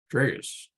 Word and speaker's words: tragus: There it is. Tragus. Okay, so we've been saying it wrong.